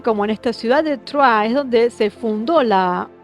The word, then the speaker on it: Troyes: Pero bueno, ellos crearon la ciudad de Troyes, que sería, si lo leo como se escribe en francés, sería Troyes.